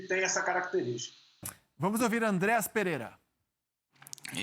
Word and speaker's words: Andreas Pereira: que todos querem saber como se pronuncia o seu nome então meu nome fala Andreas Pereira mas eu entendo se falar no início um pouco errado mas ao longo vão